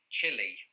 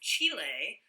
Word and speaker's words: chile: and speaking of spanish i used to pronounce this chili and i think most people in britain do but i've since evolved my pronunciation because of this one well it's chile because it's the place chile but if you were